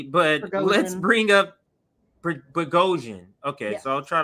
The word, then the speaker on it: Prigozhin: for me it's so hard to remember to pronounce his name correctly. But let's Prigozhin. bring up Prigozhin. Okay, Yes. so I'll try to remember that for Yevgeny Prigozhin.